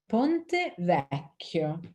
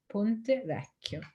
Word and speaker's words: Ponte Vecchio: Ponte Vecchio, which means old bridge, and Vecchio is spelled V-E-C-C-H-I-O, Ponte Vecchio.